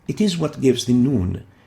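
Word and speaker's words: ن: top of it and it is similar to the english n pronounced in as in in it is similar to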